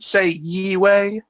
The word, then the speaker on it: Yahweh: I'd say Yee-way, like Yahweh, I but Yee-way. I've actually heard Jews try to um actually say, hey, that's a way that it could be pronounced. It's not something that I mean, Yahweh is we'll just go with that, because that's you know